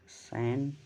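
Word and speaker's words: sandwich: silent word in सैंडविच लिखा है सैंडविच लेकिन पढ़ा जाएगा सैन सैंडविच हमेशा प्रोनंसिएशन पर ध्यान देना चाहिए कौन सा वर्ड साइलेंट होगा तो ऑप्शन में जब सैंडविच लिखा जाएगा हिंदी में तो डी नहीं पढ़ा जाता है इसलिए ऑप्शन सी जो है इसमें करेक्ट होगा डी जो है सैंडविच होता है सैंडविच में डी साइलेंट माना जाएगा अगला क्वेश्चन है अगला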